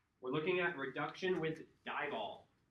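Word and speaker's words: DIBAL: We're looking at reduction with dieall. pronounced like eyeball said.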